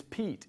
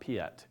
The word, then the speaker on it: Piet: not correct you and it's Pete its Pete not Piett SPI et it's the Dutch derivative of Peter right but he says Pete anyway four years ago this